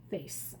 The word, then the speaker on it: face: Face, F-A-C-E, face. Now, this is considered a sight word or a tricky word because listen to it. Face. It has the S sound, but it's spelled with a C.